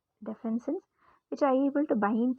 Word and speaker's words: defensin: write that down somewhere defin sin I'm sorry for mispronouncing this def sin d e f n s i ns defens defensin defensin which are able to